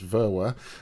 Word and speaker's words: Verwer: spelled which is just Vera um and but everyone mixes up the V and the W in the middle um uh and and